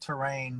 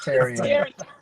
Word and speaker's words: Terrian: A lot of people will pronounce it terrain, but that's wrong. It's Tarian.